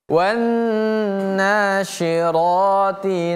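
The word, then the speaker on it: والناشرات: Wanna, di sini lihat ada tanda tasydid pada huruf nun. Huruf nun ada tasydid. Tasydid ini pemirsa, cara membacanya itu dengan kita menekan ataupun menahan kemudian baru lepaskan. Jadi bacanya wanna. Seolah-olah ada dua bunyi huruf nun. Huruf nunnya ada dua.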